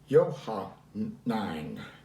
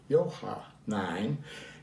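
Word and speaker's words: Johannine: n j-o-h-a-n-n i n e uh and it's pronounced yohan nine yohah nine and that means writings by john now i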